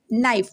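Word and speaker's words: knife: okay तो क्या होगा ये नाइफ यहां पे भी के साइलेंट है इसको क्या जब हम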